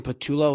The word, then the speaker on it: Patullo: Kellen Moore, out, and then they promoted Kevin Patullo. Is that how you pronounce it?